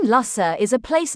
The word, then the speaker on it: Lussa: The name Lussa is a place name at the north of the island and is pronounced as it looks. Luss rhymes with bus.